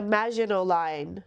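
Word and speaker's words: Maginot Line: You know, like and Mel and I realized we were saying this wrong, this word wrong. What's the right way to say it? Hold on. Just imagin line. She says, you know, like the Magino line, she's ruined.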